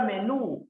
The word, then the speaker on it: menú: Por ejemplo, la palabra menú, profe, tiene la mayor fuerza de voz en la última sílaba, ¿correcto? Termina en vocal, entonces debe tildar. Perfecto.